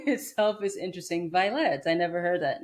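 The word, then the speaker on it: Vylette: Violet. I never heard that name before. It kind of sounds like Violet, but with the X. Violet. And the way that it's spelled is is with a Y.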